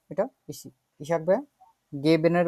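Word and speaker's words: geben: আমরা উচ্চারণ করে দেখি তো এটা ইশাক ভাইয়া গেবেন এর উচ্চারণটা করেন তো গেবেন গেবেন ঠিক আছে এটা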